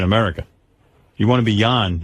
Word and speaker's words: Jon: It's Jan. It's Jan. pronounced Jan. Jan. J-O-N. Jan. And by the way, tell Jan it's John in this country. J-O-N is John. It's Danish. Well, whatever. This is America, pal. Jan is Y-O-N.